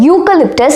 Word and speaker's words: eucalyptus: In this particular example, in the particular word eucalyptus, it starts with the vowel E but the pronunciation belongs to the consonant Y.